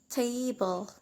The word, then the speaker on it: table: Like in the word table, there are 2 syllables and that, and we stress in the first syllable, like tay, in the part tay, so we pronounce table.